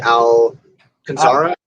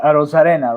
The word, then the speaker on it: Arozarena: that guy's name but randy owl consaara no arozarena right yes he's been he's